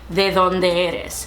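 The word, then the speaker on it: de dónde eres: You would say de donde eres. So it takes a little bit getting used to using your tongue to pronounce that D, and that's honestly one of the biggest like identifiers for someone.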